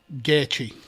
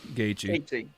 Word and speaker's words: Gaethje: I mean, I can't pronounce that last one, Max. Gator. That's Gaethje. Gaethje.